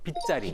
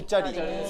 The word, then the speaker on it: 빗자리: 빗자리. 빗자리. 순한글. 빗자가 한자가 없잖아요. 그래서 빗광자를 써놓습니다. 그래서 저는 광자리라고 쓰고는 읽을 땐 빗자리라고 읽는 거예요.